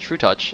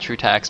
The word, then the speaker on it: trutaCz: what you may think this is in fact pronounced true touch and not true tax because uh he's polish uh similarly oh